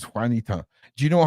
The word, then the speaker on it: Juanita: I saying this right Wanita is that how you pronounce on the screen how long it took me to figure out that's how to say Juanita before I realized it was Juanita do you know how